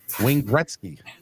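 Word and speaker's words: Wayne Gretzky: picture with them either why are you adding our third syllable into his name that's his name come on man it's not three syllables it's two Wing Gretzky there you go I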